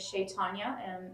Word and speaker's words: Chaitanya: My name is Shaitanya, and it's spelled Chaitanya, and his name is Raju, Raju, and our last name is.